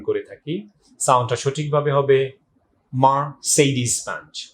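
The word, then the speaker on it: Mercedes-Benz: সো আপনি এরপরে যখন এই ওয়ার্ডটা উচ্চারণ করবেন তখন অবশ্যই খেয়াল রাখবেন it must be pronounce like মার্সিডিজ Benz.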